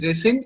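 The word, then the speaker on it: rescind: yes sir it's called resend okay okay it's pronounced as resend and it means cancel or reject the same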